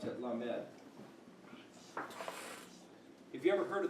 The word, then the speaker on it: Lamed: So you pronounce it Lamed.